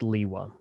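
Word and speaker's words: Lewa: question facing bionicle community it's pronounced leewa i'm still shocked we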